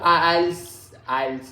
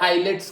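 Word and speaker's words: IELTS: नहीं इतना परफेक्ट नहीं पढ़ा, पर आइल्स है ना। आइल्स टी साइलेंट है। कोई बोलते हैं आइलेट्स कर रहे हैं।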